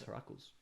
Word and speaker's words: Heracles: It's Heracles.